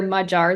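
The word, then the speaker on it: Magyar: interestingly her ex-husband is Peter magar or Peter majar is probably the correct pronunciation who was now a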